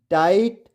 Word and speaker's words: tight: तो आपको पता है GHT में आया GH हमेशा साइलेंट होता है।